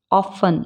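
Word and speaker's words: often: हैं लिसन बोलते हैं मैच ऑफ इसमें टी साइलेंट है ऑफें बोलते हैं वच इसमें भी टी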